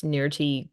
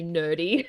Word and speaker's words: Nirti: So we actually just heard RDA pronounce Nirti kind of correctly Correct, for the most part. Really? But he does usually say nerdy.